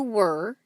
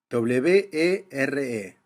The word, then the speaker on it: were: W-E-R-E. La pronunciación es bien cerrada, were, casi como si fuera una O.